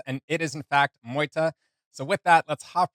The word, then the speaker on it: MEUTE: And someone had let me know prior that I was mispronouncing the band name, where I was saying previously MEUTE, where it's pronounced MEUTE.